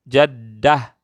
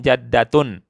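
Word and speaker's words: جدة: Ya, tak marbutah itu akhirnya kalau berhenti kita baca seperti huruf H. Kalau nyambung bacanya huruf ta. Jaddah, jaddah. Itu kalau berhenti. Kalau nyambung jaddatun.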